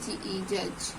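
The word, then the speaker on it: judge: knowledge bride pride ऐसे यदि डी के बाद जे आ जाए तो डीजे में जो है डी साइलेंट हो जाता है जैसे यहां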